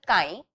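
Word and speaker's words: χ: fraction इसे कहते हैं काई ट इ प्रोनाउंसड एस अ काई इज इक्वल टू मोल्स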